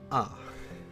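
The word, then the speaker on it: あ: This is the It's the equivalent of the English of the vowel A in English. We pronounce this one as ah.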